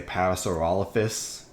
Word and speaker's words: Parasaurolophus: congratulations pastoral office and i know i'm the only one who pronounces paris oral office like that it's like some people say parasaurolophus which kind of freaks me out but you know that's